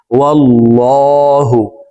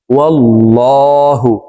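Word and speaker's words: وَاللّٰهُ: তো দেখুন এখানে আল্লাহ শব্দের আগের হরফে জবর আছে, এই কারণে এই লামকে ল বলে পড়ব, অর্থাৎ মোটা ভাবে পড়ব, এভাবে পড়তে হবে, ওয়াল্লাহু, ওয়াল্লাহু।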